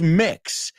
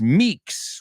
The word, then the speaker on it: Meeks: about someone called Buzz mix you got the first name right but the last name isn't mix it's Meeks remember they're not pronounced the same and in fact the